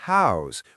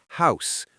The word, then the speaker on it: house: And notice I said house with a voiced Z sound at the end, not house with the unvoiced s.